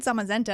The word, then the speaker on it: Zamazenta: When I heard Zamazenta, I was like I'm going to remember how to pronounce it because it sounds like magenta.